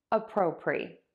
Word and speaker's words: appropriate: Pre, a pro, pre, appropriate. Now, here's where the change comes and where these words are different. For the adjective, we are gonna say appropriate, just like the word it, and to say that,